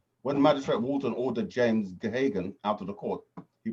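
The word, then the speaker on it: Geoghegan: It's called, it looks like Gehagen, it's pronounced, it's an Irish name, Gehagen.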